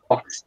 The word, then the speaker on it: boxed: So el pasado de box, boxed. boxed, boxed, Yeah, boxed. Okay. Boxed. boxed. La X es otra de las que se pronuncian con T al final.